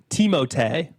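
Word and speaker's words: Timothée: Timothy Shalomé actually I I don't know much about him.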